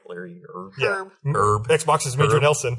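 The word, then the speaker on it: Hryb: Larry Erb, I believe, has already posted that they're taking all of the feedback they're getting and having Did I say his name right? Larry Herb? Herb.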